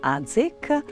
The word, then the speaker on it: Adžić: Bonjour, je suis Adžić. Ici, ça se prononce Adzik.